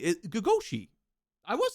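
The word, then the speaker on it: gogoși: It's pronounced Oh, I was saying it. Gagoshi.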